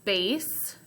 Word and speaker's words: base: Okay, base is spelled B-A-S-E, like that. The E is silent, and it makes A say its name, so I code it like that.